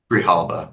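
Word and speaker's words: Grijalva: and and and the the correct pronunciation is Galva, right? Galva. Grihalva. Grihalva.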